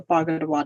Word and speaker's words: Bagida'waad: So it's pronunciated bog, like a swamp, and then ida, and then wad, like a gum, like a wad of gum. So Bagida'waad Alliance.